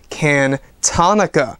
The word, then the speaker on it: Cantonica: it is indeed pronounced kin Tonica a very very nice tone I like the name of it I like how it flows when you say it can Tonica it's like harmonica I like it now